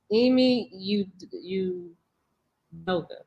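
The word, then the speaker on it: Ime Udoka: I can never say his name. I mean, Adoki. Emi Udoka. How do you? Yeah, Ashley. That's exactly what it was.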